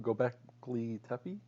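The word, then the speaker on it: Göbekli Tepe: because we built them with sticks, because like Gobekli Tepe, is that how you say it? Gobekli Tepe?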